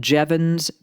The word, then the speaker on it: Jevons: And so, then we have what's called Jevons paradox, J E V O N S, and it's pronounced like Devons paradox.